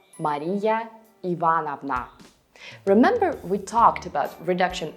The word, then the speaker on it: Мария Ивановна: Sometimes in conversational speech, patronymic names get reduced, and you can hear Ivan Ivanich instead of Ivan Ivanovich, or Marivanna instead of Maria Ivanovna.